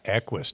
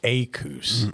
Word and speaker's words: Equus: And I got it wrong because they pronounced it wrong. All of them called it Akus. So I didn't know any different. So I just called it Aus.